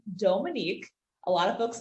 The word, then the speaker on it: Dhomonique: me so the h the pronunciation dominique is french and then the h and the two o's which is very unique that is african so my name is